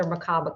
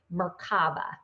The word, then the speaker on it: Merkaba: one in the other one, that's where the Merkaba comes in.